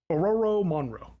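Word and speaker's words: Ororo Munroe: Or how do you pronounce that? Ororo Monroe.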